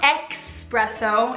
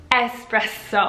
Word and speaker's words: espresso: espresso in my coffee well it's not expresso it's actually s spread so a spread so so none of this X business it's espresso latte what is latte